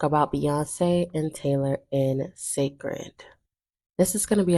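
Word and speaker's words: Cécred: recently came out with though it is spelled that way Beyonce does pronounce it as sacred for people that may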